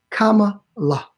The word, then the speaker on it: Kamala: Then I want you to say comma. Kamala. That's how you pronounce her name.